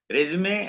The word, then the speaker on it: resume: Resume and CV. The pronunciation is resume, not resume. Please remember this. Okay. People say resume, but that is not correct. Resume is the correct pronunciation.